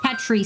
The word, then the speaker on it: Petri: I assume it's pronounced it's meant to be pronounced petri like petri dish. I was pronouncing it Petri like Petra like the name but Oh, gotcha.